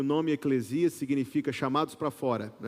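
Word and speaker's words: ἐκκλησία: Não é eclésia. Eclésia é o aplicativo da igreja. A pronúncia correta é eclesia.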